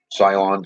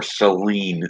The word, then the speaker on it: Ceylon: very specific about which cylon cinnamon as to which location because of the soil content that you get your Cylon cinnamon or so lean cinnamon however you wish to pronounce it C e Y L